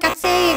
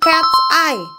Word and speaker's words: KATSEYE: Oh, jadi cara bacanya bukan KatSeye guys, tapi Cat's Eye.